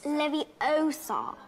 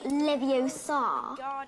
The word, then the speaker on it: Leviosa: someone's eye out besides you're saying it wrong it's leviosa not leviosa you doing then if